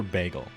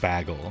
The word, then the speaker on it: bagel: they're good be for bagel or bagle if you want to say it wrong next up we have